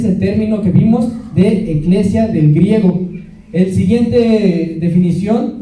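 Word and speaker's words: ἐκκλησία: Viene la palabra iglesia viene del griego eclesia, que se escribe E-K-K-L-E-S-I-A, eclesia, y quiere decir asamblea.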